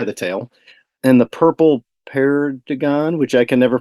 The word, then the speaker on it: perdigon: And the purple perdigon, which I can never pronounce correctly. Perdigon, yeah.